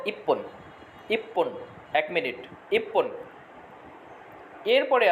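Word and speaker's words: 一分: তচুটা পরের বর্ণ রূপ ধারণ করে পরের বর্ণকে ডাবল করে দিবে। ঠিক আছে? এইজন্য এটার উচ্চারণ হয়েছে ইপ্পন।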